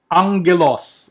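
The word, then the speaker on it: ἄγγελος: The double g. Okay, so the first letter will be pronounced like an N or like an NG. So it's angelos or angelos.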